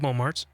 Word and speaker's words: Momartz: Rob Momartz.